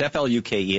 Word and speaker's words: Fluke: Sandra Fluke had, and I'm sure I'm mispronouncing it. I understand it's F-L-U-K-E, and it's pronounced like book.